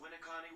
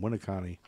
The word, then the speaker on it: Winneconne: That's pronounced Winneconne, Wisconsin. Oh, there you go. We're right. Boom, Winneconne.